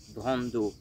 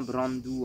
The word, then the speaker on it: Brando: Et ensuite, on arrive à Brandu. Brando. Brando en italien. Brandou en Corse, mais du coup le nom officiel c'est Brando.